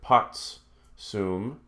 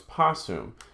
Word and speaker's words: possum: over for that T they had hard time pronouncing a TS together so just so instead of putts soon it becomes possum and so we'll just